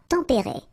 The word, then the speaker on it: tempérés: Final S not pronounced, but then you should definitely pronounce the accent.